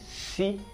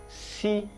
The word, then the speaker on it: S: Then the next one is si, si. Now we know that in writing it is S in English, but in Yoruba it's called si, si, si.